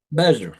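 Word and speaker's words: Mizner: the 37, that you started working with Adam Misner. How do you say his name? Mesner, yeah.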